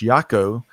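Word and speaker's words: Jaco: I think I was mispronouncing his front name. It's Yako, right?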